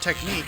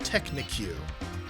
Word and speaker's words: technique: when I could have sworn that the word technique was pronounced Technic I'm pretty sure you